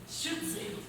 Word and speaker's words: Schütze: La primera pregunta que te tengo es: ¿cómo se pronuncia tu apellido? Schutze.